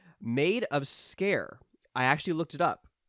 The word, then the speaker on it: Sker: game called made of scare I actually looked it up um it's pronounced scare which kind of adds